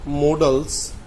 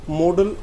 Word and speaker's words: modal: अब इसको देखते हो, सब स्टार्टिंग में अगर बात करें, अब इसको कोई मोडाल बोलता है, कोई मडाल बोलता है, इस तरह बोलते हैं। रियल प्रोनाउंसिएशन क्या है? मॉडल ही होता है ये।